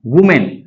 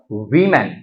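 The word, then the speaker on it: women: ओ एम ए एन वुमेन अब वूमेन का जब आप प्लूरल बनाएंगे तो इसे क्या कर देंगे डब्लू ओ एम इ एन और इसका प्रोनाउंस क्या होगा एक्सेंट क्या होगा वमन ना कि वूमेन फिर आप ये मान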